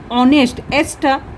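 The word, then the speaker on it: honest: Just because it is sound like a ओ, ऑनेस्ट। H जो है silent हो जाता है।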